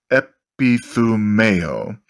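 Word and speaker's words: ἐπιθυμέω: So it's Strong's, if you want to look it up, don't take my word for it, number 1937, epithumeo, pronounced epithumeo, and the words used 16 times.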